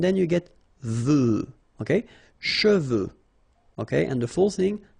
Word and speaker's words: cheveux: Usually this one is a bit of a problem because some of the students normally pronounce it chevaux. Okay, so try to keep in mind that you get E-U here.